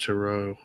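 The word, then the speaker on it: Tureaud: It's pronounced Turo.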